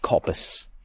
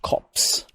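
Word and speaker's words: copse: the M it's like it was never pronounced cop even if it's spelled like that it was always just cops even if it's spelled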